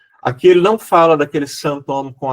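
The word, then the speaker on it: sinthome: já falou um pouquinho desse santom que eu pronunciei em francês só para dizer que aquele com h e que tem a ver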